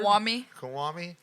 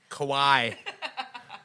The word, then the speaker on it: Kawhi: Todd, here's the trick on how to pronounce it. Just go, why the fuck do I always pronounce this guy's name wrong?